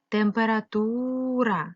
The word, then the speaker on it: температура: ставимо тире записуємо транскрипцію температура ставимо наголос зверни будь ласка увагу що звук е у вимові наближається до и тому в цих двох